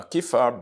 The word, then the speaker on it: kefir: It is spelled K-E-F-I-R, kefir.